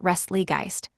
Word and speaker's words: Restlegeist: Boo, it's pronounced Restlegeist, like the German pronunciation of Geist.